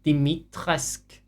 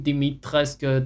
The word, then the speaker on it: Dimitrescu: Sorry, Dimitrescu. That's how they said she should pronounce it. The house Dimitrescu. If anyone remembers that, it's not her fault. They told her it's, yeah, Romania something, Dimitrescu.